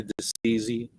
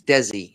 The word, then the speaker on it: Desi: Hi, Deceasy. I don't know how to pronounce it. How is It's Desi.